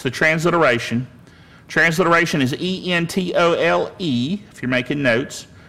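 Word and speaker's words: ἐντολή: Transliteration is E-N-T-O-L-E, if you're making notes.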